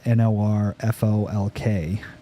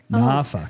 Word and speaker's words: Norfolk: a place there's a place in Virginia spelled n-o-r-f-o-l-k Norfolk nope nope kinda nah NAFA and it's after seven seconds so I can